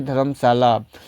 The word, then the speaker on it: Dharamshala: as a Dharamsila, but the British pronounce it as a Dharamsala.